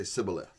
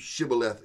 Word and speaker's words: shibboleth: syntax and structure so they would say sybileth to this day to this day that word is in use shibboleth is in use because of this